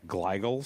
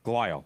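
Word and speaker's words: glial: All right, I'm going to totally mispronounce this word, but I think it's called gigal cells. Gile. Yeah, gilele.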